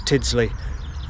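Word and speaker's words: Tyldesley: Also, I need to come back and do the plaque bridge towards Tidsley. That's how you pronounce that as well.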